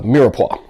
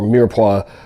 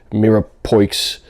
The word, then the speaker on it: mirepoix: pretty much everything uh mirepoix or mirepoix or definitely not mira poix even though it's spelled that way it is a french word mirepoix basically means you're